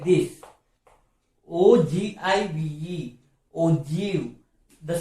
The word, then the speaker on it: ogive: O-G-I-V-E. Ogive. The spelling is like O-G-I-V-E. Ogive. But we have to pronounce like O-J-E-E-V. Ogive. So that's why I am calling this one as ogive curve, not ogive.